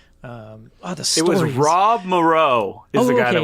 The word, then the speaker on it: Moreau: Oh, no, it's spelled like Morrow. It's Moreau. Like Big Morrow, yeah.